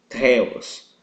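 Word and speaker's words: θεός: da palavra teta é a palavra Deus em grego teos na qual na pronúncia no grego pronúncia correta é teos como se tivesse uma inspiração junto a letra T ok Não se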